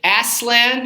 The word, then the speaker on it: Aslan: that particular Parish uh he pronounces it Aslan it's a Turkish for lion and he says of